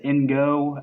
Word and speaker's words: Ingo: I think his name is Ingo, as in the phrase in and go, because you'll see why in a bit.